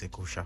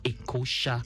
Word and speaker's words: LASHMA: Was it EKOSHA? Yes, it's EKOSHA. EKOSHA.